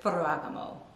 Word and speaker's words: Ferragamo: my favorite sandals for my favorite brain sabota furragamo see that's how you say it last but